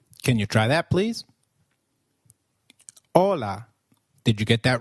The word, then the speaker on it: hola: or hi is called hola in Spanish can you try that please hola did you get that right hola remember H is always silent in Spanish we do not pronounce it let me give you